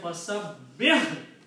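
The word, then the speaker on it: فَسَبِّحْ: You have to say fasabbih. Ha should have a sound of jazm or sukoon. Fasabbih.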